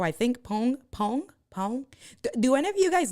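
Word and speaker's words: Poäng: Pong. Do any of you guys know how to pronounce it? It's the P-O-A, but it has the 2 dots over the A-N-G. So I've always said Poang chair, but it's one of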